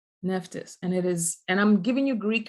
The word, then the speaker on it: Nephthys: Her name is Nephthys. Nephthys, and I'm giving you Greek names because those